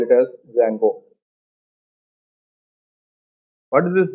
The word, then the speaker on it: Django: So here D is silent, while pronunciation you have to call it as Django. What is this Django?